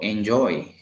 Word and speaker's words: enjoy: de inicio diría como enjoy enjoy pero no en joy al final enjoy bar en inglés show